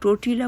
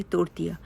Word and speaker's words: tortilla: आज मैं आपको तोरतिया की रेसिपी, जिसको कुछ लोग टोर्टिला बोलते हैं, लेकिन उसका सही प्रोनाउंस है तोरतिया।